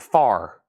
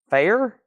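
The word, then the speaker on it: Phair: fair or is it far Fair Exile and gville sealed 24.99 the Posies amazing disgrace sealed $24.99 Lucy dcas no burden sealed $24.99 Prince Originals seal $29.99 it's pronounced Fair thank you Liz Fair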